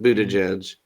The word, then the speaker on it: Buttigieg: Yeah, Pete Buttigieg, Is that really how you say his name?